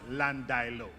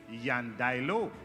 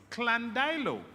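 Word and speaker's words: Llandilo: If the origin of that word is Spanish, as from our Spanish heritage, then the correct pronunciation is Yandailo, because two L's in Spanish coming from a Latin origin is pronounced Y.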